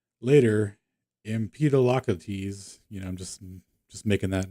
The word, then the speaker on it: Empedocles: How to pronounce. Empedocles. Oh, Empedocles. All right, there we go. Empedocles.